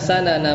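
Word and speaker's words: سَنَن: Kalau dibacanya sanan artinya jalan. Kalau dibacanya su, ya, bidom misin dengan mendomahkan sin, itu maknanya metode, ya. Tapi ini bacanya pakai fathah, ya. Di fathah sin. Ya, karena beda arti.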